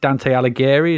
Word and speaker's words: Dante Alighieri: So I don't know if you pronounce it Dante Alighieri.